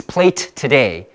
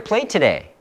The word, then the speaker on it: plate today: We have two T's, plate today. So you don't have to pronounce both. Yeah. So what do you have on your plate today?